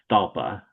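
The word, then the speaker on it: Stawpah: I'm 99.9% positive it's pronounced Stalpa. Stapa? I thought it was Strappa. Yeah, there's no R in it.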